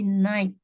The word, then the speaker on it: night: GH-nya nggak dibaca. Jadi night.